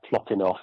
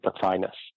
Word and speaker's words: Plotinus: I think in the Greek it would be something like Plotinos, but in English the usual pronunciation is Plotinus.